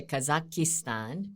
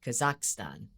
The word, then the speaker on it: Kazakhstan: We It's Kazakhstan. We say Kazakistan. There's a vow one more vow. But in English it's actually Kazakhstan, right?